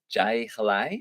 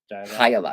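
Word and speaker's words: jai alai: a traditional sport called Jai Halai. Is that how you say it? Jai Halai. Hayalai. I thought it was Hayalai. Hayalai. Sorry, I'm pronouncing it terribly.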